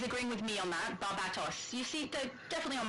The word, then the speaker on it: Barbatos: Barbatos. You see, they're definitely on my side. That's clearly the spelling for my pronunciation.